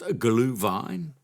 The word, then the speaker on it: Glühwein: It's spelt Gluhwein, and I had no idea how to pronounce it. So I did the old Google thing, and it's pronounced Glühwein.